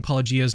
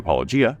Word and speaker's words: Paulogia: Welcome to Paulogia. Paulogia, however you say his name, is... I know, I ran into that as well, but I think it's just pronounced Paulogia.